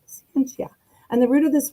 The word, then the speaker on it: scientia: Well, the word science comes from the Latin word scientia, pronounced scientia.